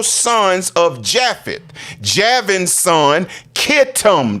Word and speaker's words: Kittim: Javin's son, Kittim. That's what that Chettiim is. It's actually Kittim, K, spelled with a K, in the regular King James.